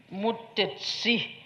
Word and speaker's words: Mutesi: also in Ankole, but in Ankole they pronounce it a bit differently, Mutesi with the TSI.